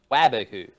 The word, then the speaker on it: Waboku: Wobaku. Waboku. That is not how you spell it. It has to be. W-O. No, W-A. Oh, yeah, it is W-A, yes. A-O. Okay, cool. Yes. Waboku.